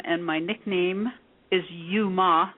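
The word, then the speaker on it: Youma: That's spelled Yo U. That is my entire legal name. And my nickname is Yuma.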